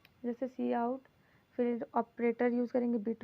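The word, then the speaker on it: cout: सी इन से लिखते हैं, सी आउट जिसको प्रोनाउंस करते हैं सी आउट।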